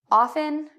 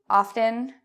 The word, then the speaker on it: often: way justly mostly softly you can say it with or without depending on where you're from so the main thing I want to say in this video is often often are both okay our